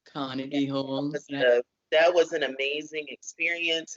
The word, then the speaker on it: Carnegie Hall: videos you playing at the Carnes Hall I think that's how you say it yeah that's okay Carnegie Hall Carnegie Hall that was an amazing